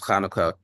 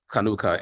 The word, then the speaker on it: Hanukkah: be discussing just now which is which is Hanukah or pronounced as kanuka kanuka in um Hebrew which means dedication so these